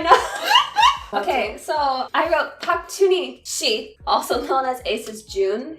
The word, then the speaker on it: Park Junhee: Park Chuni Shi, which is like the formal way to say his name in Korean.